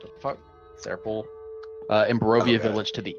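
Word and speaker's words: Tser Pool: And I'm going to spell that because it has a T in it. So it's like, what the fuck? Seer Pool.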